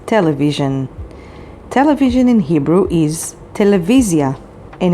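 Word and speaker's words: טלוויזיה: knows the word television television in hebrew is television and it's spelled with tet lamed vav vav yod zain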